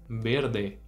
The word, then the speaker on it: verde: agora no espanhol não por isso a gente tem que dizer berde berde tá pronto para repetir